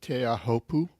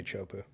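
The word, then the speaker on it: Teahupo'o: Tahiti by the way do you pronounce it te ahopu no I know I should but it's just so it comes out worse than when I just give up and just say chopu yeah and um yeah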